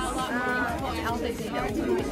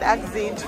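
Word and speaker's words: Alpha Xi Delta: How do you pronounce this? Alpha Z Delta. Oh, Alpha Z Delta. Okay, I would have said Xzeed.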